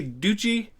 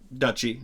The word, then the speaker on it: duchy: borders of two days did he say Gucci it's I guess you can say it that way but duchy is typically how it's pronounced Belgium Luxembourg and the